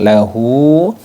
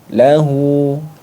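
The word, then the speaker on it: لَهُۥ: panjang jadi di sini ketika ada Dah panjang lahu maka dibaca panjang satu Alif dua satu ayunan atau dua harakat seperti itu kullahu lahu lahu nah tidak boleh dibaca pendek walam yaaklahu kufuan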